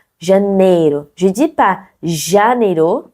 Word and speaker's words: Janeiro: Et vous connaissez déjà des mots, par exemple, comme au Rio de Janeiro. Janeiro. Je dis pas janeiro, je dis pas janeiro, c'est janeiro.